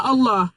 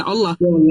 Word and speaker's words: Allah: Iya, makanya kan kita kita menulisnya L-nya doble kan itu. Makanya kan kita menulisnya L-nya doble artinya tebal dalam bahasa Arab tebal L-nya dobel all.